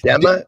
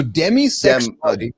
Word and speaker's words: demisexual: Demma. Spell that. D E M A. Yeah. So demi like demi Moore. So demisexual D E M I.